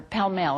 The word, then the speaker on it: Pall Mall: And because Richard is a member of the British Travelers Club, which is right on Pall Mall, or Pall Mall is really how it's pronounced, I was able to stay there right in the heart of London.